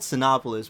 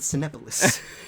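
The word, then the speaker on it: Cinépolis: do you say it no it's called sinopolis but i don't know why for some reason the advertisement there's this guy there that pronounces it very weirdly at cenepolis nobody i know calls it cenepolis the cool thing about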